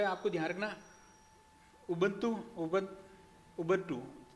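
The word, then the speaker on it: Ubuntu: ध्यान रखना उब उब उबंटू थोड़ा सा उच्चारण ध्यान रख उं आदत पड़ी हुई है तो इसका नाम है उबन ट उबन टू उबन टू ठीक है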